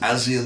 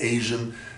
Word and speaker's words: ASEAN: We have the ASEAN countries, you pronounce it ASEAN, not Asian, ASEAN countries, which are countries